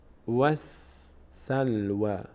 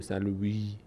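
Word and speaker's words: وَالسَّلْوَىٰ: نمیشه الف خونده میشه سلو نگیم سلوی وی نه فتحه بعدش الف است خلاص اینجا خونده نمیشه الف خونده میشه وسلو این علامتم که علامت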